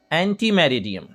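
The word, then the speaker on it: ante meridiem: एंटी मेरिडियम, एंटी मेरिडियम, एंटी मेरिडियम, एंटी मेरिडियम मतलब, एंटी मेरिडियम मतलब दोपहर 12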